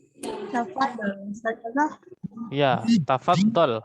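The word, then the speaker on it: تفضل: Ya, tafaddal. Ya, tafaddal. Ya, bukan tafadhol.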